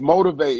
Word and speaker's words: MOT1V8: Yeah, it's Motivate. It's spelled MOT1V8. Motivate.